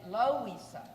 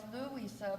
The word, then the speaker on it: Louisa: totally confused because ello they start saying lo ISA and I say no it's Louisa but they spell it